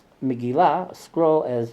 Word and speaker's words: Megillah: And the Yanina Jews pronounce Megillah, a scroll, as Migla, or Tevilah, for immersion, as Tivla, which conforms to epirotic speech.